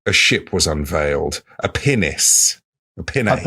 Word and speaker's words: pinnace: or a pine Pinace sounds like I'm saying a not rude, but an anatomical word in a bit of a funny accent, but it's spelled P I N A C E.